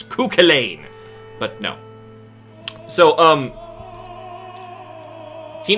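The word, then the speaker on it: Cú Chulainn: on to a cochain cuchulain sorry sorry it's Irish and I'm Irish I should know how to pronounce him it's culain but no so um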